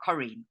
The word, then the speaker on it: Corrine: pronouncing your name properly am I pronouncing it properly you are you are Karine yeah okay Corrine because you're born in South Africa and I didn't know if I'm supposed to pronounce it a different way like is there a special way or something but Kareem got it you got it that's the exactly spelled the French way with double r so yeah oh you're